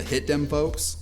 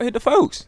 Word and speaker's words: Hit the Folks: I only talked about these two, but you also had the hit them folks and this one. Hit them folks. Why you say it like that game? It's called Hit the Folks.